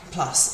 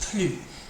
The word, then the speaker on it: plus: need to know is PL PL PL means more okay and it is like Plus in English PL PL I know I said PL here but it's a bit more of an o sound PL PL if the